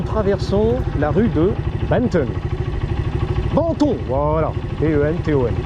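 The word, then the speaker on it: Benton: Banton, voilà. B-E-N-T-O-N. Banton, c'est bon, c'est du thon. La rue de Banton, voilà. C'est plus bobo, tu vois, prononcé comme ça.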